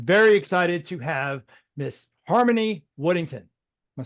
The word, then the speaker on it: Harmony Woodington: And I'm very excited to have Miss Harmony Woodington.